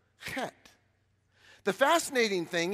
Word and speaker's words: Chet: microphone come up here because in English we would say chat but that's not how you say it it's got to have a little guttural in it but not too much and I know that